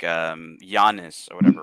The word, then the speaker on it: Giannis: of names like um Giannis or whatever right but it's spelled with a G yeah yeah but it's pronounced like with a Y and so in North